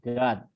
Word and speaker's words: God: Ini good, ini God. God, good, God. Blessings of God. Almighty ya. Ini God Tuhan. Kalau yang good itu baik atau benar ya. Ini dibacanya God.